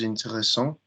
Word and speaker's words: intéressante: If I told you it's feminine and I want you to think, how do we pronounce the word interesting? Intéressante with a That's it. T. And how do I pronounce the first syllable? Intéressante.